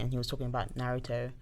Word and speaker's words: Naruto: japanese dub it's clearly naruto if you watch it in the english dub it's naruto made i